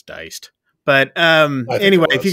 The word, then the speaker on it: Die'ced: free that's right um it's spelled D I E apostrophe C D um yeah so uh I'm pretty sure it was diced but um anyway if